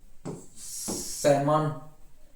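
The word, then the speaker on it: salmon: फिर देखो silent L, एल भी साइलेंट होता है, जैसे एमंड, बाम, काफ, काम, चाक, कुड, फाक, हाफ, हॉक ना, पाम, सैमन, should, torque, walk, would, याक। तो यहां पर एल की ध्वनि शांत होती है, ऐसे बहुत सारे वर्ड है।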